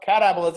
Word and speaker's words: catabolism: an example of a catabolic reaction but cata catabolism or catabolism that's the way to pronounce it there's only one of the two